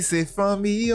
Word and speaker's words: Fanmi se fanmi: Famille c'est famille. Est-ce que je le prononce bien famille ? Famille c'est famille.